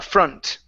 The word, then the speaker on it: front: very good right here instead of front this is going to be uh FR front the front seats the